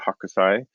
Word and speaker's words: Hokusai: 10 minutes okay so artist name is hokusai he pronounced it hakusai um either one i think is acceptable i've heard both and this is the